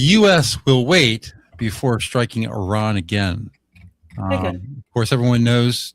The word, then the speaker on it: Iran: Um so things in Iran well you see I have a friend who's who's from there and he has corrected me many times that it is not Iran it is Iran is the correct pronunciation